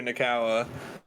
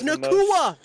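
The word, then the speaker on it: Nacua: like 147 yards for puka nakawa it's nakua you literally said it right and then said it wrong forwards later oh it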